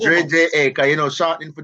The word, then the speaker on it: Dre Ja: Dre J-A, that is it. Dre J-A. Dre J-A. Okay, yes, so it's not Ja, it's Dre J-A. Okay, so it's like Dre. Yeah, it's Dre J-A, because, you know, shortening for Jamaica, you know?